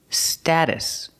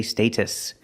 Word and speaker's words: status: status quo first pronunciation status we don't say status and we don't say status we say status use the short a sound like black cat sta status and the